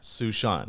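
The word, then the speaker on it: Suesean: handle which is at sushant and sushan is spelled s-u-e-s-e-a-n like the name sue and the name sean but put together so at sushant awesome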